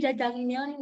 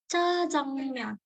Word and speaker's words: 짜장면: Jadi sebenarnya pelafalannya bukan jajang, tapi 짜장면 gitu. 짜장면 kayak gitu.